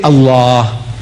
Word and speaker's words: Allah: If it's A-L-A-H, is Allah. You say Allah. I said, look, say Allah, my language.